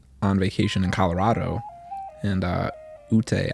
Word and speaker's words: Ute: vacation in Colorado, and Ute, I believe it's pronounced Ute, is like the tribes, the Native American tribes that are out there, and they have a lot of flute music.